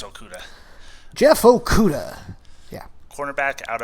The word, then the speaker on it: Okudah: How do you pronounce it? I like to say Okudah. I think it's Okudah.